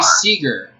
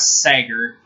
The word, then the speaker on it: Seager: It's Corey Seager. Corey Seager. It's not Sager.